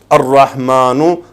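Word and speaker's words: الرحمن: Please, if you will try to read the names of Allah subhanahu wa ta'ala, ar-rahmanu, ar-rahimu, see, lam is silent.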